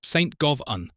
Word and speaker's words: Govan: Pronounced St Govun, rhyming with oven, not like Glasgow's Govan.